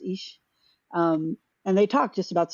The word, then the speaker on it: Illyes: It's Illyes, but it's pronounced Ish.